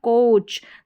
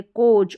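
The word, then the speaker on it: coach: यहाँ पर है कोच, तो ऐसे दो वाउल अगर पेयर में आते हैं तो दोनों में से एक जो रहेगा वो साइलेंट रहेगा और एक का जो है साउंड प्रोड्यूस होता है, साउंड आता है। यहाँ पर देखिए कोच है तो ओ का साउंड आ रहा है, ए साइलेंट है कोच, और लॉन्ग है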